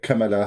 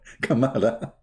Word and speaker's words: Kamala: be so great by having joe biden and kamela kamala even her she didn't know how to pronounce her name i love my arabic